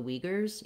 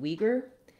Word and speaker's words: Uyghur: It's actually pretty good if you look at letter U and U, letter Y and Y, and then the GH to try to represent this voiced velar fricative, and then another U and an R.